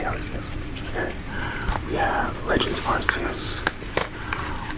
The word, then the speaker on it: Arceus: I don't know how some people pronounce that. Arceus. I say Arceus.